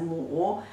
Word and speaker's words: 亩: It pronounced as a mu.